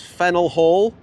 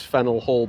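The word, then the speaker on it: Faneuil Hall: This is Fennel Hall. I wouldn't pronounce it Fennel, but Stacey did her homework.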